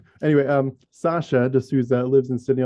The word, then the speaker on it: Sacha: to say that um it's the same as you would pronounce sasha baron cohen because uh if i